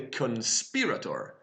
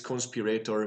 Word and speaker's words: Conspirator: YouTube to find out which one was the correct pronunciation for it since conspiratory made sense to me too kinda but it's conspirator so conspiratory is um she's